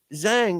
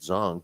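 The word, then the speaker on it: Zhang: fun because I mean Zang or I know they say it it looks like Zang but they pronounce it zong but um he uh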